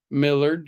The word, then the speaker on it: Millard: more claws thanks uh okay Millard like Willard thank you so much Millard I've been struggling over how to pronounce that name thank you Willard Millard